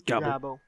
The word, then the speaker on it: Gabble: Yes, that's how it's actually pronounced. It looks like Gable, but it's not. It's Gabble.